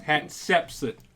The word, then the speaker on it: Hatshepsut: Hatshepsut. Did I say it right? Yes. Hatshepsut.